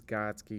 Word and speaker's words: Vygotsky: actually he's Russian so his name's gotsky you actually dropped the V and the Y I just pronounce it gotsky and gatsuki is pretty